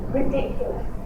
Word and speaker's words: ridiculous: Ridiculous. Ridiculous. Which syllable is stressed? Ridiculous. The second syllable is the stressed syllable.